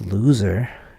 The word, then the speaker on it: loser: and a loser but although loser is pronounced loser it is not spelled with two O's but hello ser I